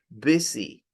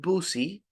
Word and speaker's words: busy: in the pronunciation and the other one is busy not buoy busy all right occup busy